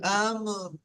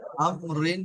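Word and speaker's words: أَمْر: كل أمر كل أمر আমরিন বলবেন না, এখানে রটাও সাকিন হয়ে যাবে, বুঝতে পেরেছেন? أمر আমর أمري রি বলবেন। أمر হ্যাঁ, أمر ওই তো আসছে আমর। أمر أمر লাস্টে রটা হালকা আম। উচ্চারণ করবেন, বুঝতে পেরেছেন? রর মাখরাজে গিয়ে ঠেকাবে।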